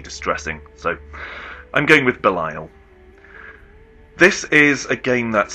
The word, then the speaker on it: Belial: Well, according to the internet, it's meant to be pronounced Belil, but I find Beiel phonetically distressing. So, I'm going with Bile.